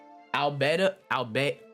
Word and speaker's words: Albedo: Albedo. That's how I pronounce it.